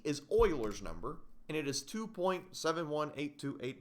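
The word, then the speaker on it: Euler: e because you might think Oiler starts with an o no no no no no no see this is a french guy which means we spell it that way I didn't make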